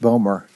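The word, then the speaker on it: BOEMRE: management regulation and enforcement uh pronounced buer uh and so this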